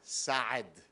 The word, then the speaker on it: Saad: It's Gad, it's a Hebrew name, and Saad, it's a guttural ayin.